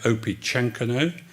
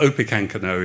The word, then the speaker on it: Opechancanough: you that would like perhaps to pronounce it opichenko and that's fine too it's a lost language and uh sadly um but opicancano is is how i'm gonna pronounce it so i'm gonna talk